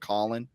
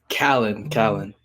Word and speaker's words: Callan: Am I pronouncing your last name correctly? Is it Collin? Callan.